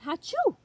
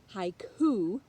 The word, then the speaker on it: haiku: going to concentrate on haiku not hatchew haiku poetry say that word with me haiku poetry haiku